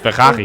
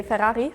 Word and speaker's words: Ferrari: In Germany, we say Ferrari. In Italian, we say Ferrari. Yeah. In Spanish, we say Ferrari. In French, we say Ferrari. In English, we say Ferrari. And in Sweden, we say Ferrari. It's kind of similar.